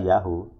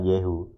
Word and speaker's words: Yahu: Israel Benjamin netan Yahoo Yahoonya ditulis disebut Yahoo Bukan Yahoo jadi itu sisa-sisa bukti pengucapan Ibrani kuno untuk Yahoo atau untuk YH adalah Yahoo bukan yehu Makanya kalau di Haya